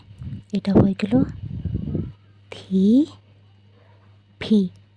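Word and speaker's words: 티비: লিখবো টিভি টিভি তো যেহেতু ট উচ্চারণটা কোরিয়ান অ্যালফাবেটে নেই তো ওরা সেটার বদলে উচ্চারণ করে থটা কিনা এটাকে ওরা টি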